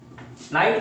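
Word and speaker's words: night: तो इसमें जी और एच क्या कर रहे हैं? जी और एच क्या कर रहे हैं? जी और एच साइलेंट है।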